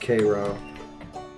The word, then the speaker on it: Cairo: fights Boston and Cairo that's pronounced Cairo one of the